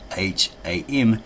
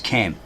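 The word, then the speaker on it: Kham: It's a HOTIP because the name Ham is spelt often spelled K H A M. It's not pronounced as Cam.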